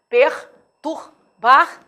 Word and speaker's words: perturbar: atenção na pronúncia forçada perturbar essa palavra consegue perturbar você é mas esses erres devem ser pronunciados para que você não cometa um erro com os fonemas da palavra a questões lá no